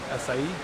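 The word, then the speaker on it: açaí: bar too so favorite flavor uh the acai acai that's how you pronounce it sounds good yeah that's the yeah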